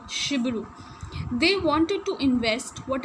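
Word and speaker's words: Cibiru: is pronounced as sh shiru it will not be pronounced as chibu here it is written no CH s but it is pronounced as sh Shibu they wanted to invest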